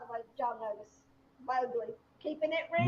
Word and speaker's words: Mowgli: Mowgli. Keeping it real. Mowgli. Remember when we called him? We thought it was Bogali.